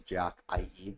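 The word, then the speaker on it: Jack13: But Jack 13 can be pronounced as Jack IE or Jackie.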